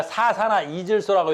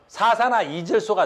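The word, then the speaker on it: 사산화이질소: 4사나 이질소라고 읽어. N2 5 4 그대로 읽으면 되는 거예요. 4나 2 질소. 4사나 2질소가 되는 거야.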